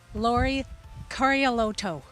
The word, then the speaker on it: Lauri Karjaluoto: wonderful, long-time avid skier, and his name is Lauri Karjaluoto. And wait, folks, I'm going to try to say it properly for you, Lauri. Lauri Karjaluoto.